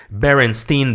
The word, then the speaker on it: Berenstain: à 99% du temps, ils vont dire Stein avec un E, mais en anglais on comprend que c'est Steen, donc c'est les Berenstain Bears, les oursons Berenstain, et c'est vraiment comme ça qu'on le prononce.